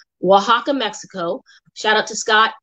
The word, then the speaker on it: Oaxaca: I just learned how to say it right. Oaxaca, Mexico.